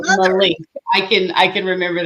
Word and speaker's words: Malench: say your last name is it malage malink malink malink like a train link yes all right Miss malink so she is an